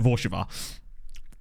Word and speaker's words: Warszawa: But also the W's are pronounced like these. Like Warszawa. Or close to that, anyway.